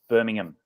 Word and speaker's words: Birmingham: away and said it's birmingham apparently we don't pronounce the ham so yeah yeah and